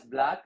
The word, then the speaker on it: BLAC: For example, like I was one time in Saudi Arabia, I was designing this brand name BLAC. Uh you just pronounce it as black.